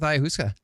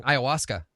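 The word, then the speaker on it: ayahuasca: So, tell us a little bit about uh your experience with IUSA. I I said it wrong. Iawaska.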